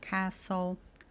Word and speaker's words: castle: Então palavras como listen, castle, fasten, whistle. Aqui a gente tá ignorando completamente a presença do T.